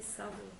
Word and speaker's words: Tavo: The Ashkenazic pronunciation, when the Taf doesn't have the dot, is a Sa. Hello? And the Sephardic pronunciation is with or without a dot, it's a Ta. And the modern Hebrew pronunciation is with a Ta also.